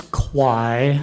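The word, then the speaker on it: Quy: pronounce your last name it's kwai kwai how do you spell that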